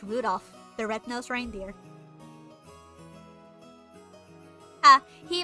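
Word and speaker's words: 留弗夫: That mess of a character's pronounced Rudolph, the red-nosed reindeer.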